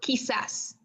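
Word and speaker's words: quizás: is porcelain then for it sounds like a k so kissas kissas which is like maybe and so the Q it always has like a u right next to it when that happens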